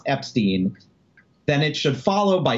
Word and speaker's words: Epstein: pronounce Epstein or Epstein it is not up for debate the correct way to pronounce Brian's last name is Epstein and why is that not up for debate because that's how the family says it if the Beatles say